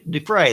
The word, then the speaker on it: Dufresne: Is that how you pronounce it? Dufresne, I think. Dufresne, that's it.